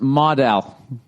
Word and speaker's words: modal: Note, model is pronounced modal.